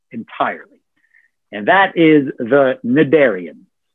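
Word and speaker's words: cnidarian: and that is the nadarians notice how i didn't pronounce the silent c just nidarian now think of these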